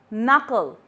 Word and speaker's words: knuckle: The second letter is K, K, knuckle, not, no, and knee. In all these words, K is silent and usually it comes at the first place.